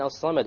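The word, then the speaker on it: الصمد: Okay, the lam in as-samad, why did we not pronounce it? Solar. It's a solar letter. The sad is a solar letter, which means we drop the lam when we have the alif lam there.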